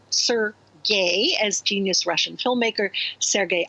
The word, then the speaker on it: Sergei: to sad strange places sergei pronounced sir gay as genius russian filmmaker